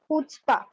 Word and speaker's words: chutzpah: Okay, it is pronounced as chutzpah. chutzpah.